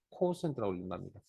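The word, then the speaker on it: quotient: 뭐, 저도 영어 실력이 짧아서 사진에 찾아보니까 코센트라고 읽는답니다.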